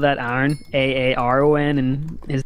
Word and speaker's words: Aaron: And then iron in the middle.